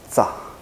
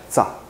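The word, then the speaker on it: ཆ: ，这一个读作炸，念一下炸，没有卷舌哈，炸炸。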